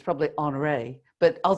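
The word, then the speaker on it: Henri: I say Henry Matisse, and of course I'd trash it. It's probably Honoré, but I'll say Henry Matisse.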